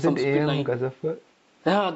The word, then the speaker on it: Ghazanfar: Ghazafar? Yeah, Ghazanfar.